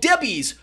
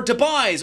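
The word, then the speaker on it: Debye: electrons in units called Debbies or deis or Debs depending on how you want to pronounce them I like pronouncing it Debbies because they remind me of the snack cakes so the greater the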